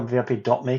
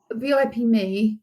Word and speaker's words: VIP.me: I never know if it's VIP Me or VIP.me because it's spelled VIP.me. It's VIP Me, if I remember rightly.